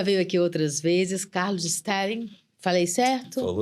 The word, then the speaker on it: Stehling: Carlos Sting. Falei certo? Falou certíssimo. Porque é uma pronúncia assim, né?